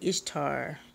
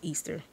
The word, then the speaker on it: Ishtar: they dealt with Easter some people even say Ishtar is supposed to be pronounced Easter she was she is